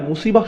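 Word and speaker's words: مصيبة: আবার শব্দটির শেষে রয়েছে তা মারবুতা যেজন্য আমরা মুসিবাহ উচ্চারণ করি মুসিব না কিন্তু আর শব্দের শেষেই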